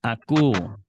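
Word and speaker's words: ἀκούω: el nuevo testamento dice pronúncialo recordando que omicron yilon suena u Entonces esta omicron y suena a cu ven así suena a cu anótelo dice Irene en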